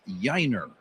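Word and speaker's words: Yainer: He spells his first name Y Ai Ner, but he pronounces it Yiner.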